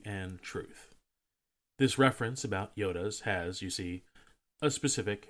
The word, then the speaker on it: iota: side of history and Truth this reference about Yodas has you see a specific historical context side note the reference to the ninth letter of the Greek alphabet is pronounced Yoda not I Yota unlike o which receives both Micron and mega